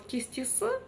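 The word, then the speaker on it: кестесі: Вот попробуйте через кисте с, затем через и кесте си. И в обоих случаях тяжело читать, а вот кисти с - та самая мягкость, которая нам необходима.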